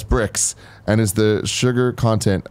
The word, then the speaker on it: Brix: D now biology says Brix is pronounced as bricks and is the sugar